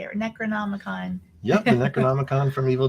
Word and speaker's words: Necronomicon: Necronomicon.